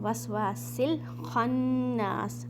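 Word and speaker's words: الْوَسْوَاسِ الْخَنَّاسِ: वस्वासिल खन्नास, अब यहाँ पर हमज़तुल वसल, अगेन हमज़तुल वसल मीन साइलेंट अलिफ, सीन को आपने लाम में मिलाना है।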